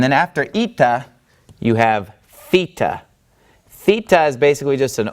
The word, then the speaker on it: Theta: the wordthe thta whereas Theta makes the sound as in the word thick the harder th sound thick Theta all right then